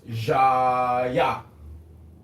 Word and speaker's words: Jaya: So, am I pronouncing it correctly? Or? It's pronounced Jaya.